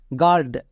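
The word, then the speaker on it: guard: ইউ এর পরে এ আছে তার মানে ইউ সাইলেন্ট তাহলে কি দাঁড়াবে জি এ আর ডি গার্ড নেক্সট এখানেও ইউ এর পরে আই আছে আই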